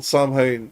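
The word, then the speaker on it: Samhain: don't get me wrong there is a pagan holiday called samine that that that or Sinn depending on who which nation well there's two there is two pronunciations depending on what nation you're from but uh that's my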